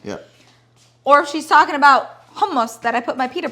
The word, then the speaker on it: hummus: that no it's not hummus it's not hummus it's hummus yeah if we're going to say it in arabic it's homos anthony looks very tall